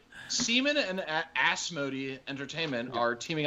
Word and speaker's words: CMON: and it's not entertainment it's pronounced semen yes seaman and asmody entertainment are